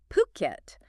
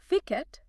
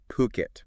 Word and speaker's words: Phuket: And uh let's nail the pronunciation straight away. It's Phuket, not Fiket. Puket.